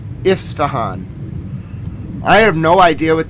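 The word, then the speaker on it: Isfahan: I S F A H A N IF ifstahan.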